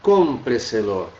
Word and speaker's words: cómpreselo: Olha aqui, ó, onde é que está a nossa sílaba tônica, cómpreselo.